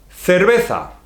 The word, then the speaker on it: cerveza: E, I, C, C, is like the TH in English, think, etc. The same, okay? So let's learn some words with this sound C. Cerveza. Creo que estoy enamorado de la cerveza.